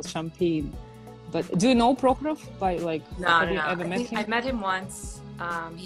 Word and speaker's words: Prokhorov: Prokhorov.